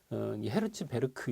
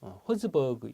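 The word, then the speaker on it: Herzberg: 이게 이제 그 영어를 어떻게 읽느냐에 따라서 이걸 독일식으로 읽으면 헤르츠베르크 이렇게 읽고요. 허즈버그 영어식으로 읽으면 허즈버그라고 읽습니다.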